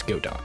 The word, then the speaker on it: Godot: to work with Godot yes I pronounce it Godot I know people pronouncing Godot but I mean come on it's a robot it's Godot I initially started this